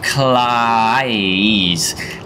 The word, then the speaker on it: Kleis: Steve Kleis. Like claw? Ice.